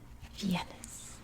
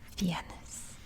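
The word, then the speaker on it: vienas: and say them again number one is viennese reminds me like vienna austria vienes vienes i'm gonna erase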